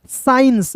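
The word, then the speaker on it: science: अब देखिए यहां पे एस सी आई ई एन सी ई तो यहां पर एस को साइलेंट करिएगा एस सी आई ई स एन सी ई इंस साइंस देखिए दोस्तों कैसे आप जो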